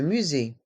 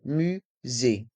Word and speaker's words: musée: mairie la mairie le musée le musée dans le mot musée le S se prononce ze car il est entre deux voyelle ici la voyelle U